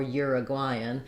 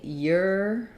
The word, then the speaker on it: Uruguayan: to say Uruguayan or Uruguayan. So Americans will either say Uruguayan, or Uruguayan, or Uruguayan or Uruguayan. So we either say I or A for this syllable, and ur or for that first syllable.